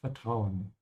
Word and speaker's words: Vertrauen: Make sure to pronounce the V like an F, yeah? Vertrauen.